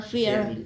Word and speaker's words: fear: Bacanya fair ya. Fair Beda sama fear ya. Fear tulisannya FEAR, itu artinya takut ya. Fear. Ya kalau ini fair ya, fair. Jadi sedikit berbeda, pronunciation-nya sedikit berbeda.